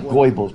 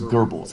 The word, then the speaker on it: Goebbels: was uh hitler's propaganda man it looks like goebbels but it's pronounced gerbils that oe it's like an earth sound i